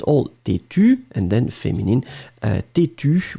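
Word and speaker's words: têtue: Têtu with the E, but then you don't pronounce it.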